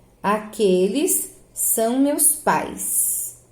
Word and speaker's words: pais: Aqueles são meus pais. Olha a pronúncia. Pais, é tudo junto. Não tem como eu dividir essa sílaba aqui, não tem, tá?